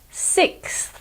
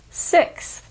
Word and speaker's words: sixth: it six times I'll say this word again six the American pronunciation is basically the same six word number four is photographer photographer I'm sure